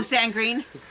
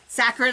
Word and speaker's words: saccharin: Oh, Sangrin. Saccharin, I think I pronounced it.